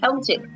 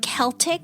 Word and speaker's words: Celtic: is that in Ireland the word Celtic is typically pronounced with the k sound similar to the British English pronunciation but in America the